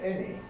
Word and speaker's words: any: There are just one or two little traps, words like many, spelt with the letter A, but pronounced not manny, but many, and likewise any.